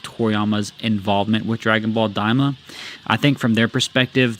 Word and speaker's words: Daima: to Dragon Ball Daima, deliberately mispronounces the title as Arumashiki, a wordplay based on Arumashiki, a Japanese term meaning unworthy or inappropriate. Nakatsu corrects him, pointing out that the proper title is Daima, but Torishima keeps the